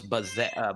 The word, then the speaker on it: Bayze: do that for me i keep calling you babes i didn't know it's buzz yeah it's french uh my whole life it's